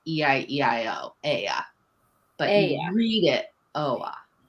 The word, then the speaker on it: Oia: It's pronounced it with an E, that the OI sound in Greek is an E. But you say it like E-I-E-I-O, Aya.